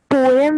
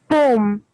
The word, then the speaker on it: poem: ma'am, one word is poem, which is like wrongly pronounced. We pronounce it poem, not poem.